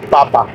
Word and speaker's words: Papa: Una forma sería, por ejemplo, decir a mamá y papá, que es como en español papá y mamá, pero sin acento. En español llevan acento al final, papá, mamá. En alemán sería mamá, papá.